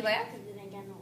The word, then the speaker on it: laugh: this is how I remember it let's just l a u g h spells laugh very good like laugh for me I know that can you laugh I know it sounds like that's how I used to spell it too so no it's laugh so say